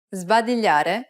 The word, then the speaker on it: sbadigliare: Sbadigliare è contagioso. Did you pronounce the S before the B as a Z sound?